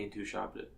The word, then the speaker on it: Intouchables: was called the intouchables yes would you mind pronouncing that in French for me Lee Ann to shopton thank you okay it's a really good movie